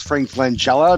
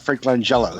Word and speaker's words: Frank Langella: argument automatically is invalid because Frank Langella not Franklin jello so you'll automatically get